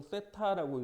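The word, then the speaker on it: θ: 이게 이 각의 특성에 의해서 따라서 우리는 일반각이라는 것은 어떤 임의의 각도를 나타낼 때 얘는 읽을 때 우리가 보통 세타라고 읽습니다.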